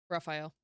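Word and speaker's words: Rafayal: Raphael. And if you must know, it's spelled R A F A Y A L.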